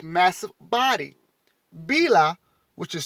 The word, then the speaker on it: Bila: creating rivers and valleys with its massive body bila which is spelled b i l a listen can you listen b b-i-l-a bela bila was the sun woman you see how